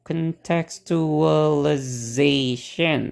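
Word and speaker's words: contextualization: katanya ya oke tadi kan k Tex to contexualization Oke ada tujuh suku katanya dan e di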